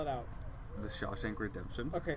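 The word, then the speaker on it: Shawshank: spell it out the Sha Shank Redemption okay sha shank sh Shaw like Mary Shaw Shank like I'll freaking shank you oh okay and then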